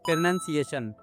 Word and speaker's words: pronunciation: So the correct one is pronunciation.